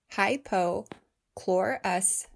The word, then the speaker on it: hypochlorous: 20 20 then yes that includes covid19 it's pronounced hypo chlorus acid but is also referred to as electrolyzed